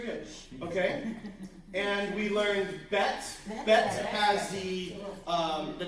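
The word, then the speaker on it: ב: And we learned bet. Bet has the um the dots. It's called a desh. It's like he has a belly button going to say. So bet as in boy.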